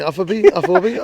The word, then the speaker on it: Afobe: Right, Afobe. He used to I'll pull you up every time you mispronounce the name.